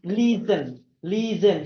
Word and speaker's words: listen: So we tend to say it to pronounce it as listen, but the right way to pronounce it is listen. So the T is vanished, so it's listen.